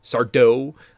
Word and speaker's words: Sardo: a magic shop and it's Sardo. Uh, the accent on the dough.